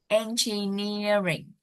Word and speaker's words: engineering: Engineering. Yeah, I think it's the third. Tại vì cái từ engineer đó, bản chất của nó là nhấn cái vần số 3 rồi.